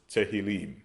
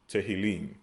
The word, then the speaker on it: Tehillim: Okay, we pronounce it as Thaholium. Thaholium. They pronounce it as Tehillim. Tehillim.